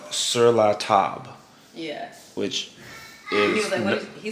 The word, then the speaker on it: Sur La Table: to what i'm sure 99 of you call sirloin table and i heard it pronounced one way once before and i couldn't